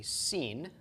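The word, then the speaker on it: שׂ: pronounce our English sh-shut and if the dot is to the left then it is a scene and it is pronounced as an S just like the some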